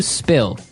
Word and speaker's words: spill: some milk okay spilled now it's pronounced differently from spell right that's right SP